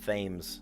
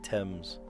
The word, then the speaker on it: Thames: I almost said Thames. No, they say Thames.